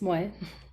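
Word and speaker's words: Moii: I have also been coordinating with, please correct me if I mispronounce her name, Moi, M-O-I-I. Yes, Moy.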